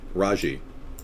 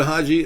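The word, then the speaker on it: Hadji: Haji, excuse me. Was it Haji? Thank you. I was mispronouncing it. Haji.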